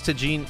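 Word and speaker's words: Tajín: Oh, I've been calling it tajin the entire time.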